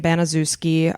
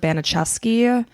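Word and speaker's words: Baniszewski: I'm going to pronounce their last name Banazuski. I heard that a lot. I also heard Banacheski, but I'm just going to say Banazuski. Let's say Banacheski is probably the Polish version of it, and then Banazuski is probably the American exactly.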